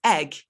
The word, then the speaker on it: egg: pronouncing the H, it's egg. The H, the H should not be pronounced in that word, affectation.